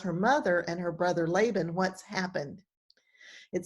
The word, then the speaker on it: Laban: it's her brother laban whose name would be pronounced laban in hebrew um he's a rich man